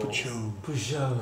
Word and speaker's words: Peugeot: So Peugeot. Hindi siya pugot. He's fine. That's how you say it.